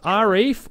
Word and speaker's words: Arief: that uh that don't actually know how to pronounce so so my name is arif i say rf those are my parents right